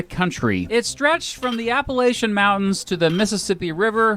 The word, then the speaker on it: Appalachian: about where I live, they pronounce it Appalachian. But the rest of the country all says Appalachian. So I get a lot of feedback from people who say I pronounce it wrong one way or the other.